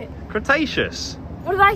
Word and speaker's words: Cretaceous: Cretaceous. What did I say? Crustaceous.